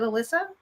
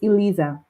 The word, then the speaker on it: Elisa: Is it Alyssa? It's Eliza. Elisa.